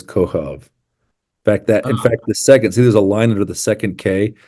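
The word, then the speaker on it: כוכב: And And that line under the B means mhm. it is a B, but because of where it is in the word, you pronounce it like a V. So it's Kohov.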